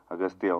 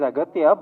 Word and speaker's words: Aghathiyaa: It is Aghathiyaa, but in the film, your name is pronounced in different ways. Agasthiyaa. Yeah. In both ways, it is pronounced. Yeah, it's Aghathiyaa and also Agasthiyaa.